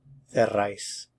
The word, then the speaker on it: cerráis: Note that Spaniards would also use the cefeo pronunciation, so you would hear cerráis, cerráis.